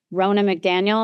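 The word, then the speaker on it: Ronna McDaniel: I wanted to talk to you about what has been going on this past week about Rona McDaniel. Am I pronouncing her name right?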